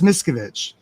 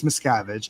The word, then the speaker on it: Miscavige: David Miskovich, the mischievous Miskovich. I know it's Miscavige. I like to say it wrong.